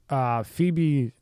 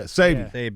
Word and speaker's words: Sebi: So he was about to do a documentary on him because Phoebe, and sorry for saying your name wrong, even though it's a situation. CB. Dr. Sebi, yeah. Sebi.